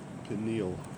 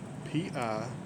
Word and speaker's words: pineal: The first of these is the pineal gland. P-I-N-E-A-L. Pineal. Pineal. I've heard it pronounced both ways.